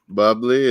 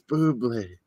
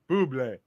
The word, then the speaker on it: Bublé: He does the commercials, and the kids are always calling him Mr. Bubbly, and he's like, it's Bublé. Bublé.